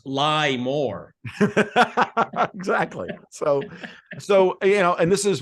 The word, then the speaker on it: LIBOR: As a friend of mine put LIBOR, he said we're pronouncing it wrong. It's lie more.